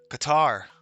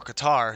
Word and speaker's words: Qatar: about the stock exchange qatar i could pronounce it correctly or qatar if you're in america what is the currency